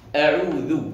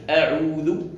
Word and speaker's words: أعوذ: أعوذ، لاحظوا معي، أعوذ وليس أعوذ، أعوذ. الهمزة مرققة، الهمزة مخرجها منين؟